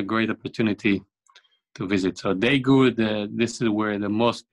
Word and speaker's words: Daegu: So you travel to, you pronounce it Daegu? Daegu.